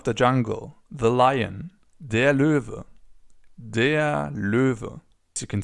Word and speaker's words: Löwe: So for now, it's just important that the animal is pronounced Löwe.